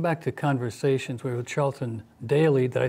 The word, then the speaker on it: Charlton Daley: We're with Charlton Daley.